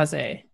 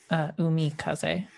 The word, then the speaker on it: Umikaze: Is it Ume or Umi? Sounds very elven. I guess is pretty good for a mermaid. Sting. Sorry, it's spelled with an I, not an E. Umikaze.